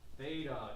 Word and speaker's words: theta: It makes the sound in Greek. Okay? The TH sound.